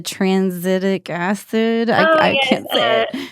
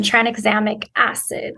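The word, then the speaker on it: tranexamic acid: say the word the transitic acid I literally yeah so I've been saying it wrong last night but um try an examic acid so that um it's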